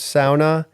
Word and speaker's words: sauna: It is truly the correct way to pronounce sauna, and it's the only Finnish word that is well known by Americans.